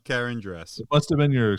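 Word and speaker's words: Karandras: stupid i think anyway karen granddress oh um yeah yeah you were very close john the pronunciation was just slightly off karen dress it must have been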